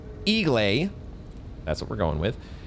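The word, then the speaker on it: Eiglay: Copilot says that it's pronounced Igle.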